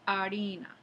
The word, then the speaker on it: harina: Y en lugar de harina, se dice harina.